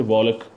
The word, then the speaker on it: walk: And L is silent before key in the word, like walk, W-A-L-K, we don't say walk, we say walk.